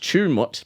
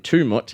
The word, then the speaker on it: Tumut: It's uh it's apparently apparently it's pronounced Chumut, but I was saying Tumut.